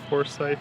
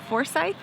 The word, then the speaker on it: Forsyth: like 5 more stops to Forsyth Park.